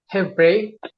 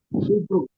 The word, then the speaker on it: Hebrew: Hebre bacanya Hebrew ya. Betul. Hebu. Betul ya. Hibru. Iya. Hibru ya.